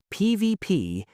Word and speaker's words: PvP: PVP and PVE are almost always said as the individual letters PVP and PV.